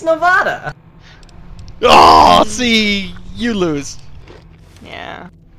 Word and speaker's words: Nevada: It's Nevada. Oh, see, you lose. Yeah. That's like how you pronounce that.